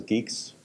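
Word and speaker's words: Guix: It's called GNU Geeks, pronounced as Geeks.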